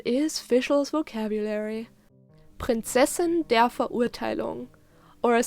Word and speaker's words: Verurteilung: as a masculine pronoun, and Verurteilung with a very important oo sound, which is very different from the English you, or how English speakers say it in this word.